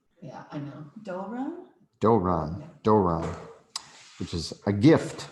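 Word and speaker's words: δῶρον: And that's that vowel after the delta is a omega. So it's a long O sound is the vowel. Yeah, I know. Doron? Doron, Doron, which is a gift.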